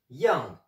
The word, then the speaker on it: 样: Aujourd'hui, je vais vous expliquer l'étymologie, l'histoire du caractère yang, qui est dans l'expression zhen me yang, comment ça va, zhen me yang. Yang, yang, quatrième ton, Y-A-N-G.